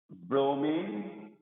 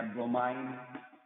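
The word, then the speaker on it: bromine: दूसरा हम ग्रुप ले रहे हैं, दैट इज क्लोरीन, ब्रोमीन या ब्रोमाइन, प्रोनाउंसिएशन में भी differ, chlorine, ब्रोमीन एंड आयोडीन।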